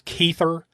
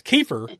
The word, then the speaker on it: Kiefer: Speaking of Kiefer Sutherland, am I the only one that ever says Keither Sutherland?